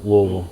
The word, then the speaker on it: Louisville: And Taylor's still going to take me around Louisville. Louisville? And uh You got to say it like marbles in your mouth. Louisville.